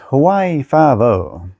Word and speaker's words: Hawaii Five-O: Regardless, it's still pronounced Hawaii Five-O.